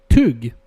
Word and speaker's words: tugg: Anyway, I always get really smart ideas in the bathroom, and I just realized tug is also a Swedish word, but it's pronounced. Let me get my Stockholm on. Tugg, and it means to chew something.